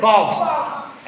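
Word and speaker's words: calves: तो कॉफ का क्या हो जाएगा? कॉफ्स। एल साइलेंट रहेगा।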